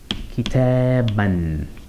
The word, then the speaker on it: كتابا: It's just decorative. We don't pronounce it as a long ah sound.